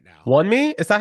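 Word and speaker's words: Wunmi: Wonmi?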